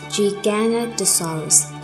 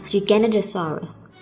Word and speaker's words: Giganotosaurus: Giganotosaurus, pronounced Giganotosaurus, is Greek for giant southern lizard, not gigantic lizard, as it's often mistranslated and mispronounced by people unfamiliar with classical roots as Giganotosaurus.